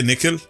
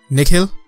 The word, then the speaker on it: Nikhil: Yeah, it's Nikhil, but then most people are not used to pronouncing Indian names. Put too much emphasis on the H and like the ch, or like Nikhil.